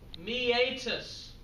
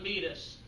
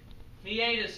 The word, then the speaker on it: meatus: part of the humorus this is one everyone mispronounces meatus meatus not meus meatus a tube likee passageway